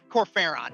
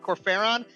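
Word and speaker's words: Kor Phaeron: Corfaron, I think. Is that right? Corfaron. Yeah, Corferron.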